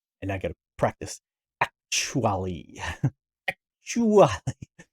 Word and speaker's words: Ackchyually: Ackchyually. It's got to have like extra syllables. Ackchyually.